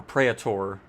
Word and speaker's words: Praetor: Praetor, whatever. Or Praetor, I think is how it's actually pronounced.